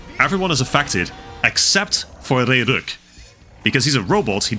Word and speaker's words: Ragnarok: Ragnarok, there we go. Got the pronunciation out there, finally.